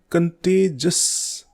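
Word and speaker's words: contagious: इसमें आई साइलेंट होता है, इसको बोलते हैं कंटेजस.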